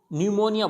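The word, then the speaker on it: pneumonia: अब यहाँ पे भी यानी इसको न्यूमोनिया बोला जाता है, यानी पी यहाँ पे भी क्या होगा, प्रोनाउंस नहीं होगा, न्यूमोनिया।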